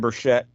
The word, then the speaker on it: Burchett: Tim Burchett, rather, is how it's pronounced.